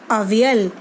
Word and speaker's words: avial: He named it अवियल, AVIAL। See children, the pronunciation in English is also given in the bracket, UHVIUL, अवियल।